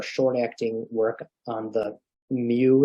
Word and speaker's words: mu: and that are short acting work on the MU it's called that looks like uh the letter U it's pronounced mu receptor Tramadol also works a little